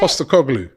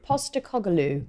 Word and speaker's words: Postecoglou: How do you pronounce it? Postecoglou. Postecoglou.